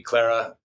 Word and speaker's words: Clara: In the Western Hemisphere, it would be Clara.